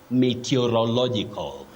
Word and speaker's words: meteorological: prediction of the weather, you don't say meteorological department. Meteorological department, not about weather. So, the word is right here. You say meteorological.